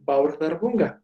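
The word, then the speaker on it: Bárðarbunga: se llama el volcán va a abordar bunga así se pronuncia esto es como una th de tu paquete tu vientre' como en inglés si va a hurgar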